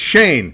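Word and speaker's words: Schoen: may be Joe Shen you can't say his name right you can't do it um you're thinking of s h o it's just it's Shane Shane Shane Shane Shane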